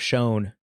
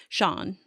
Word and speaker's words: shown: And you say instead of shown. I used to say it the Canadian way, Sean.